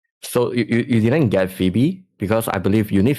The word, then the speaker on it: Phoebe: So you you didn't get Phoebe because I believe you need Phoebe to to play uh with Dani. Yeah. Like F. You call it Phoebe. I call her Fobbit. Yeah. Yeah. It's Phoebe.